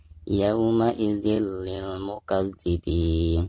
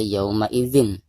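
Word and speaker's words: يومئذ للمكذبين: Jadi cara membacanya yauma idzil lil mukadzibin. Jadi bukan dibaca yauma idzin ya, tetapi yauma idzil lil mukadzibin.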